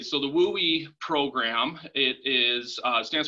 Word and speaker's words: WUE: and so um like i say so the wui program it is uh stands for the western undergraduate exchange program but you'll see it abbreviated as w-u-e um and pronounced as we so um let me make sure my slides